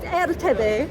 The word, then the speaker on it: erteb: It's known as erteb. [Marion tries to pronounce and fails] - It sounds like Entebbe but er-tebbe?